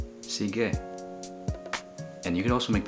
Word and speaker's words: sige: also say Okay so the way to say okay is seege sige and you can also